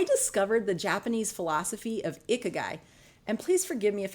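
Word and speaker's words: ikigai: reinvent myself I discovered the Japanese philosophy of iky and please forgive me if I am pronouncing it wrong it's spelled i k i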